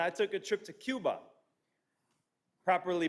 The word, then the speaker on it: Cuba: get away and i took a trip to cuba properly pronounced cuba everybody said cuba yeah now cuba is not